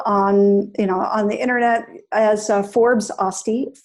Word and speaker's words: Öste: Öste.